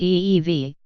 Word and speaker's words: Evey: he had in mind mr. Evie pronounced ee-vie told the author's James